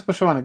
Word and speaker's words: Poshyvanyk: And Dennis, um I apologize for the pronunciation for your last name. Dennis Puschmann. Yeah, Dennis Puschmann.